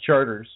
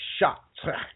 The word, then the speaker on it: Chartres: the Chartres Cathedral, and if you're American, you'd say it looks like Charters because it's spelled Chartres, and because we're Americans, we say, oh, that says Charters, but it's really actually Chartres or Chartres.